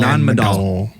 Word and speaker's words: Nan Madol: How do you want to pronounce this? Madol. Nan Madol.